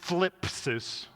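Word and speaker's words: θλῖψις: The word is thlipsis. It's kind of like flip, but with a TH instead of an F and an is on the end.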